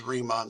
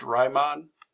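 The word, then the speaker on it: Riemann: do are known as remon sums and I have also heard it pronounced Ryon I'm not going to pretend to know which one is correct and um remon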